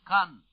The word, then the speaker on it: Caen: The Allies have driven into the stone-housed streets of Caen, where William the Conqueror in 1066 assembled the fleet with which he invaded England.